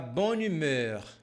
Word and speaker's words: bonne humeur: Je veux de l'amour, de la joie, de la bonne humur. Aqui é interessante você entender que nós pronunciamos como se não tivesse essa vogal, como se fosse tudo junto.